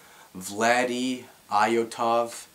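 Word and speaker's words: Vladi Iotov: a larger following um it's pronounced vlady iotov um I'll just put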